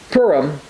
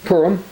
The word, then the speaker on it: Purim: So they called these days Purim, and so you'll hear it called Purim. But as I say, when I looked at this, it's actually pronounced Purim, after the name Pur, or casting the lots.